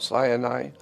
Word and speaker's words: Sinai: his people at Mount Sinai but Mount Sinai is actually sin AI and now it's interesting